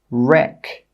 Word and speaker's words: wreck: The letter W is often a silent letter when it comes before an R at the start of a word. Some common examples are right, wrote, wreck, wrong, rap.